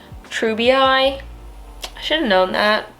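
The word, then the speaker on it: treubii: like slightly more expensive ones is this skinnexus treby moonlight really quick editing emma here um i learned after i filmed this video that it's pronounced true bi i should have known that but i didn't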